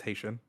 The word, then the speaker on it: Haitian: It's not how you think it would be pronounced, but it is pronounced Haitian.